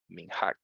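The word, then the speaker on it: מנהג: a escribir aquí la la palabra min hack que es una palabra que significa como costumbre no min hack se pronuncia Así vamos a ponerla como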